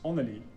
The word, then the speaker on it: underlig: In Swedish, it's pronounced underlig, but in Danish, it's onelig.